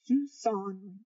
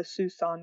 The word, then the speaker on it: Siouxon: this is our trip down this fusong trail and it's pronounced tucson it rhymes with tucson and it's basically a river that we followed down by Mount Adams and Mount st.